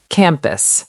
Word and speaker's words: campus: Word 2, campus. Campus. The stress is on the first syllable.